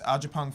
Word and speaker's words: Agyapong: Instagram is Agyapong Films.